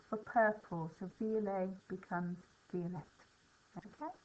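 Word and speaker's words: violette: purple, so violet becomes violet. Okay, we pronounce the T on the end when it's feminine.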